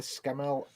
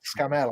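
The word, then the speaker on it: Scammell: Bench building up the frame for the Scamel Pioneer. Is that the big tank transporter? yeah, it's Scamel Pioneer. I just said Scamel.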